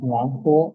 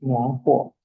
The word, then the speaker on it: 暖和: hablando de Tianqi, tenemos Nuanjo y Lianhua. Ven que aquí la segunda sílaba, el segundo pinyin, ya no tiene ningún tono. ¿Sí ven? El primero sí, Nuanjo.